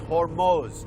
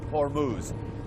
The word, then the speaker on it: Hormuz: By the way, that's the correct pronunciation. It's Hormuz, not Hormuz.